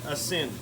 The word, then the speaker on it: Aisin: those instructions with it a is I n a sin passin everywhere pronounce it so if you can